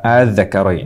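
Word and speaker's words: ءَآلذَّكَرَيْنِ: Jadi ini panjangnya 6 harokat. A panjang 6 harokat. Adz-dzakarain.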